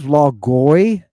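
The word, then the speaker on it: λόγῳ: Logoi. And I'm forcing you to pronounce this iota that is the subscript of this omega.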